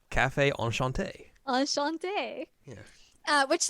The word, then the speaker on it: Café Enchanté: you got to say it correctly correctly correctly Cafe on Shante on Shante yeah uh which that's how they